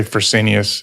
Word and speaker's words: Fresenius: How do you say that, David? I say Fresenius.